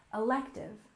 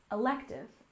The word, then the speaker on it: elective: next we have elective with stress on the second syllable elective elective this is a kind